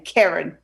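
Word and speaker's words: Keren: middle name is k-e-r-i-n no it's k-e-r-e-n karen yeah karen you that's too many two e's make a short a you know that right but so okay so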